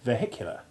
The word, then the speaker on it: vehicular: H finds its voice only in the adjective vehicular, when the stress moves to the second syllable and the first changes its vowel sound from long E1 to short E3.